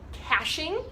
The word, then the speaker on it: caching: So they will do one of my favorite raptor behaviors, which is called caching. It sounds like when you say like cash, like money, it's spelled C-A-C-H-E, caching.